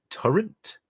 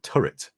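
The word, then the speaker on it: turret: I know the feeling I used to say turrent instead of turet for the longest time see it's just you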